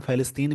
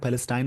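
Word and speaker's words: Palestine: इसको वैसे तो दो तरीके से लोग पढ़ते हैं, फ़लस्तीन भी पढ़ते हैं, फ़लस्तीन भी पढ़ते हैं, पैलेस्टाइन भी पढ़ते हैं। अब जैसा इसकी प्रोनाउंसिएशन होगी, अब दोनों पढ़ सकते हैं।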